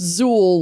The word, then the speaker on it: Xül: Xül Beer, Xul, but pronounced Xül like with a Z.